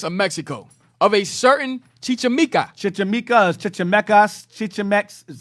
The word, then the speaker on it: Chichimeca: The following account in Gomorrah's conquest of Mexico of a certain Chichimeca.